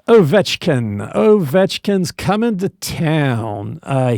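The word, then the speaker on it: Ovechkin: Yes, it's Ovetchkin.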